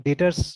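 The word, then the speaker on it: debtors: तो मतलब डेटर्स pronounce करते हैं बट लिखते हैं डेप्टर्स करके, DEBTURS, है ना।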